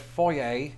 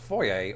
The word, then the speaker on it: foyer: In Britain, we usually opt for the word foyer. Please note that Americans, just like patrons on my most recent secret stream, are divided on whether this should be pronounced foyer or foyer.